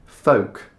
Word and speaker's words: folk: see it written down, you're wondering what the L is doing there. So you start to think, should I be pronouncing this L? The L letter? No need, just leave it out. Folk.